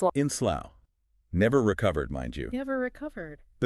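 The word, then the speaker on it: Slough: So you might try sloof or slow. You might. But the actual pronunciation for this town is slow. Slow. So it rhymes with cow or now.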